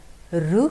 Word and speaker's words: ऋ: रु की मात्रा, आप मराठी में इसे रु बोलते हैं, लेकिन जब हिंदी में हम इसको प्रोनाउंस करते हैं बच्चों, तो उसे हम री कहते हैं।